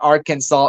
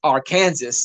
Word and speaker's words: Arkansas: so long ago uh people don't even pronounce uh Arkansas right Neil it's it's not Arkansas it's Arkansas yeah I had Grimlock